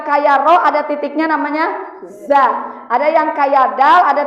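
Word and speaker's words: ظ: Lihat pengucapan huruf za di ujung lidah. Za, agak digigit lidahnya.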